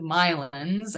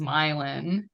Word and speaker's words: Milan: European name but he his version of it is the Irish pronunciation which is myelin that was not not Milan like I thought it was yeah